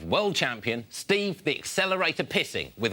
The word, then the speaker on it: Pising: So many people over the years have pronounced it Pising or Pising. It's not, it's Pising. Said it once, and I'll say it again. Pising is my name, and